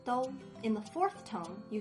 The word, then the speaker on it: 豆: Then the plus o makes do.